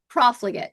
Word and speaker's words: Profligate: The um, help me pronounce Profligate. this. Profligate.